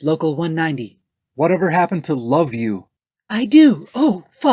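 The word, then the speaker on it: LOVVU: vinegar and under ghouls they're known by their initials l-o-v-v-u which they pronounce love you remember no that love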